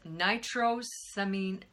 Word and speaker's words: nitrosamine: this last compound in our video today is nitrosamine semijns i don't think I said that right I'll spell it for you it's a class of compounds